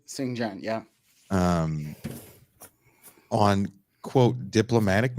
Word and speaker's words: Xinjiang: that have been to this is xinjiang am I saying it right xinjiang yeah um on quote